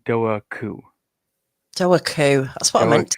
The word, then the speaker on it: Dobhar-chú: Gary Gary from Irish Aquatic Monsters told me it was Dobhar-chú.